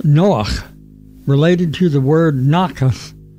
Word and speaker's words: Noach: Although English speakers call him Noah, his Hebrew name is Noach, pronounced Noach, related to the word Nachas.